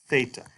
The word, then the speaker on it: theta: So it is not this kind of TH sound at all, but it's like the TH in think. That's theta.